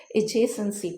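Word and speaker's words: adjacency: इसको एडजेसेंसी पढ़ते हैं, तो जहाँ पे भी ए डी और जे इकट्ठे आ जाते हैं तो वहाँ पे डी साइलेंट हो जाता है, तो इसलिए हम इसको एडजेसेंसी पढ़ेंगे।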